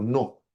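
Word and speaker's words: Noh: 600 años de historia, que es el teatro No. Se escribe N-O-H.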